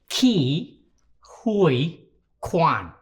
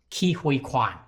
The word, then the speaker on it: Ke Huy Quan: My name is pronounced Ke Huy Quan. Ke Huy Quan.